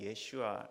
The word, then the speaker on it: 예슈아: 변형된 이름이죠 우리는 예수 차라리 한국말이 낮고 원래 발음 예슈아 이렇게 했는데 예슈아의 잔이라고 읽혀지는 거예요 히브리어로 그래서